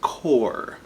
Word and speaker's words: corps: corpse party c-o-r-p-s-e corpse if it doesn't have an e it's pronounced core so i've noticed a